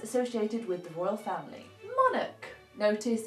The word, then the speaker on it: monarch: with the royal family monarch notice it's a monarch not monach watch out for that one so a monarch noun